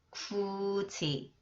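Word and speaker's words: 굳이: more the example syllables When The final consonant combines with e sound it becomes지 마지 마지 해도지 해도지 해도지 구지 구지 정 정동지 해도지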